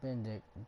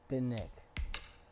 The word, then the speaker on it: Bennick: Not Bendick, Bennick.